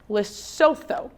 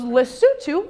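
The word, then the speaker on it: Lesotho: I go okay um L Soo he very politely corrects my pronunciation he goes lutu is a small landlocked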